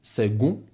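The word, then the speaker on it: second: Nie czytamy tego przez K. Czytamy to tak samo jak słowa sekunda, czyli to czytamy jak G w środku, a więc seg sekund.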